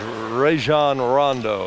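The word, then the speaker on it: Rajon Rondo: what about another one of the McDonald's all-americans ran Rondo as we get the pronunciation right here out of Louisville and there's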